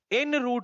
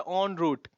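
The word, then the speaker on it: en route: ये क्या लिखा है, ऑन रूट, अब बहुत सारे लोग इसको इन रूट पढ़ेंगे, बट ये प्रोनाउंसिएशन क्या होता है, ऑन रूट।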